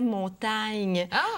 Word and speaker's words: Montaigne: et vous connaissez peut-être l'auteur français Montaigne son nom se prononçait montagne on a déjà écrit